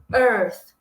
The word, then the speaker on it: earth: ter que posicionar a língua entre os dentes e dar um pequeno soprinho, tá? Então essa palavra aqui a gente vai acabar pronunciando earth, earth.